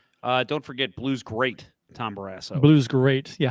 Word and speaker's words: Barrasso: You pronounced it wrong. I guess what? You pronounced his name wrong. It's Tom Barrasso.